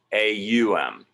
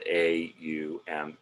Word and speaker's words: AUM: And more literally or in more detail, AUM. And in Sanskrit, when you put an A and a U together, it becomes this O sound.